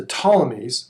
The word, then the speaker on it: Ptolemies: most about is the ptolemies silent p ptolemy's in egypt and